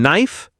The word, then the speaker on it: knife: Silent in knife. K.